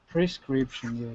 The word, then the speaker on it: prescription: you're saying prescription premi prescription is pre so make sure no one's saying / scription prescription a lot of people make that mistake Dmitry can you pronounce